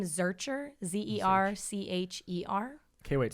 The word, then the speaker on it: Zercher: say your last name my last name is searcher zer CH ER okay wait so are you